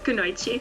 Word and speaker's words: Kunoichi: I saw you're a part of the Kunoichi team, if I pronounce it right. Kunoichi? Yeah, Kunoichi.